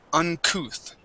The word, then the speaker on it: uncouth: So this word here is uncouth. Uncouth. Okay, uncouth. Uncouth. Uncouth. Yeah, sort of like saying booth or tooth. Okay, it has that ooh sound there.